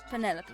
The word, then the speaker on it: Penelope: officially yes but I never can be bothered with all four syllables of it Penelope sounds a little ostentatious